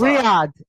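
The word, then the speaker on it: Riyadh: It's Riad.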